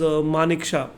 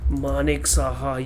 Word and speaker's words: Manik Saha: And it's a very interesting one because Tripura was a CPM thing, and the chief minister was Manik Shah, Manik Shah, whatever.